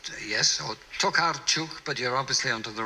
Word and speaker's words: Olga Tokarczuk: Now, I might not be able to pronounce this properly. It's Olga Tokarczuk. It's, yes, or Tokarczuk, but you're obviously onto the right person.